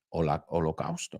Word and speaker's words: Holocaust: Holocausto, no sé cómo se pronuncia en español. In English, it's hala, como si la segunda O fuera una A, Holocaust.